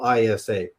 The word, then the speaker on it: Isa: in the world today is actually just um spelled ISA with a a soft S, which is very similar to the goddess Isis, right?